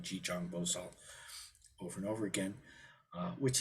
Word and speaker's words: Jijang Bosal: uh chitty Garba in in the sino-korean pronunciation which is jijong boso so a big part of the chant is just saying jijong bosal over and over again